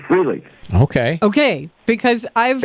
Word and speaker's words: Frehley: How do you correctly pronounce Ace's last name? I say Frehley.